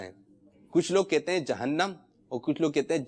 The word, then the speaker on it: جہنم: جی درست تلفظ ہے جہنم. درست تلفظ کیا ہے؟